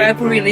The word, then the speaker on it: caipirinha: I always say it by the wrong name. Caipirinha, is that right? Caipirinha, yes, caipirinha. Caipirinha.